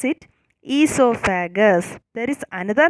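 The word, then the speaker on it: oesophagus: The first letter is O. O is silent here, okay? So we need to pronounce it esophagus.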